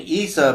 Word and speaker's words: Isa: letter in Jesus' name is a Y. So you can't really pronounce it. And the earliest pronunciations of Jesus' name are actually Isa, which is the way the Arabs still pronounce it, which strangely, this is